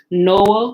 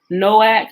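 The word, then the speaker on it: Noach: originals in this book noah was really noah having a k sound at the end of it his son's name shem means name noack may have named him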